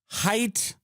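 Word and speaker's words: Haidt: I don't know if the government loves that because by the way, you know, Jonathan Height, I believe the last name is pronounced that way, just wrote a book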